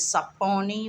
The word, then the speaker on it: Saponi: of their name is saponi which is sa a p o n i it's spelled that uh there's another part